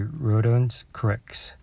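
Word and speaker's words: Rodions Kurucs: And our last card will be Rodons Kurix, and that's how you pronounce his name.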